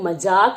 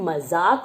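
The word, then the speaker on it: मज़ाक: हमने लिया है मजाक कई लोग मजाक बोलते हैं लेकिन यह मजाक बोला जाता है वही ज के नीचे हमने बिंदी लगाई है और ज को हमने ज कर दिया है तो यह मजाक हो गया ठीक है बच्चों चलिए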